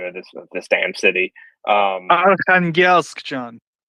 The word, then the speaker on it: Arkhangelsk: I can never pronounce the name of this damn city. Arkhangelsk, John. Arkhangelsk.